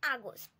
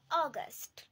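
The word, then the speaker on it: August: June, July, অগস্ট, এটার বাংলা উচ্চারণ হবে আগস্ট, তবে আমরা ইংরেজিতেও অনেকেই আগস্ট বলে থাকি, এটার ব্রিটিশ প্রোনাউন্সিয়েশন হবে অগস্ট।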